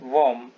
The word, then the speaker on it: whom: ये है WHOM, इसका उच्चारण होता है वॉर्म।